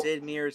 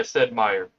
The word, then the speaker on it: Sid Meier: So all So I'll it's oh, Sid Meier's Civilization. yeah, said Meyer. Sid Meier. Okay, I Yeah. So butchered pronunciation of that.